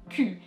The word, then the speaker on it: cul: And you might have noticed that the L is not pronounced, le cul.